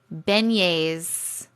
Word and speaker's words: beignets: Beignets. All right, we'll start over. Now that I know how to kind of pronounce it.